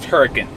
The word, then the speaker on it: Hurricane: you going to Huracan it looks like hurricane that's pronounced turrican there's Utah people are